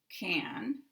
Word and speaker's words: can: If you look at can in the dictionary, and I'm pronouncing it can because I'm talking about one word, can, not in a sentence, then you will have this pronunciation with the full vowel a, can. So I'll say the word can. But when it goes into a sentence, we have to apply sentence stress.